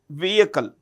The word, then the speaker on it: vehicle: The H in vehicle is silent. So we say vehicle polar satellite launch vehicle.